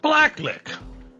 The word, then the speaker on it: BlackLiq: One of my favorite MC's currently out right now, Black Lick. It's funny how Q is pronounced like a C because it's not lick Qish.